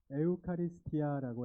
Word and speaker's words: 에우카리스티아: 에우카리스티아라고 해요. 에우카리스아. 에우카리스티아. 어렵죠? 말이 발음이 에우카리스티아이 그리스말이에요. 그리스.